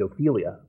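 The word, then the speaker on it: Ofelia: But Ophelia has a godfather, accent on the first syllable.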